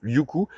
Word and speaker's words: Liuku: donc on s'excuse puisque son prénom se prononce Liuku.